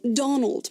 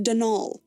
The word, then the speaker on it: Donal: denal Delaney the caretaker not Donald mind you there's no D at the end so it's pronounced danal that's the way you're